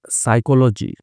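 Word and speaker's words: psychology: अर न्यू साइकोलॉजी teacher, अब यहाँ पे पी साइलेंट होता है साइकोलॉजी में, ये ध्यान रखिएगा आप।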